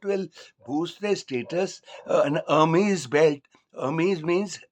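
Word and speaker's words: Hermès: boost their status an Ary belt means h h e r m the H is silent of 70,000 if that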